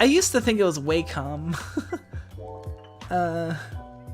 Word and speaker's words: Wacom: a little annoying wacom sounds dirty yeah yeah doesn't it like it it sounds like you're saying like wacom like like like whack the moles like like playing whack-a-mole you must restart your